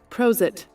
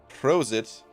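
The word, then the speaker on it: Prosit: german uh hold on i think it's pronounced like this prose it prose it ah an expression used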